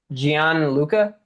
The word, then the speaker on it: Gian Luca: Is it Gian Luca? I I just realized I didn't even ask. Hey. Yeah. Yeah. You said it right.